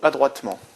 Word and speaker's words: adroitement: Septième exemple, il doit vraiment jouer ce coup adroitement. Adroitement. Encore une fois, on a une terminaison en aimant, donc terminaison d'adverbe en un seul M. E, M, E-N-T.